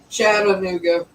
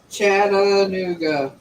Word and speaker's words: Chattanooga: you pronounced it wrong chattanooga chattanooga how did i pronounce that wrong you said yoga you didn't use the a chattanooga now you said